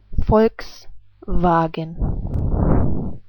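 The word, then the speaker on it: Volkswagen: folks wagen I say it again folks wagen folks vagen so here is the next word try to imagine how it's pronounced the first word which is an German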